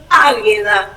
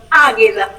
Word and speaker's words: Águeda: digo los del letrero me llamo águeda me identifica un montón águeda como guerra ag a águeda Perfecto perfecto disculpas disculpas